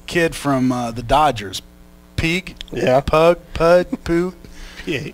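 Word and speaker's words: Puig: and this the kid from uh the dodgers peak yeah pig all right how you say it pig pig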